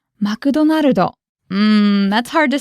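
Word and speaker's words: マクドナルド: Tomoyuki, can you give us the pronunciation of McDonald's again? Okay. マクドナルド。 McDonaldo.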